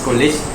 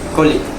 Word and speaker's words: colleague: For Malay accent, it is pronounced as college, while received pronunciation is pronounced as colleague.